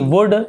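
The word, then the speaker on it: would: वैसे वुड, यहाँ पर भी एल साइलेंट है।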